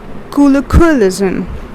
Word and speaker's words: colloquialism: You are putting the stress over here. Colloquialism. The last syllables.